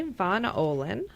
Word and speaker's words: Von Ohlen: are visiting with mary von olin and that's the german pronunciation um mary is she